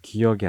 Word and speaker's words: 기역: 없어서 많은 고민을 하다가 가장 비슷한 발음의 한자어였던 역을 가져왔었다고 합니다 그래서 기억이 되었는데 재밌는 건 북한에서는 지금 기억이 아니라 기윽으로 읽고 있다고